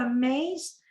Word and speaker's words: Amaze: Amase con Z, se pronuncia Amaze y se escribe Amase con Z, .es de España.